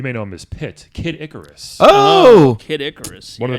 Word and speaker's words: Kid Icarus: go first Mario and Kid Icarus or some dick head back in elementary scho kid I Caris used to call him it's not kidis it's kidicarus this person sounds like